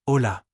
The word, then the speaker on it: hola: Ash hola. Correct. However, you shouldn't pronounce the H and just skip it.